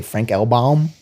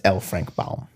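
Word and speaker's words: L. Frank Baum: In my head, I say Frank Elbalm, but it's LFrank Balm.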